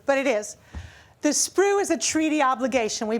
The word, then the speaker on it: SPR: I have no idea why the acronym is pronounced sprew but it is the sprew is a treaty obligation.